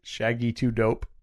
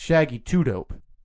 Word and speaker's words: Shaggy 2 Dope: Shaggy 2 Dope. No, it's Shaggy 2 Dope. Shaggy 2 Dope. Yeah. I put the emphasis on the wrong syllable.